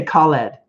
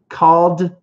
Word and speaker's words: called: We don't say called, so say it with me. Called back. Called back. And it's like ED, but it's a D.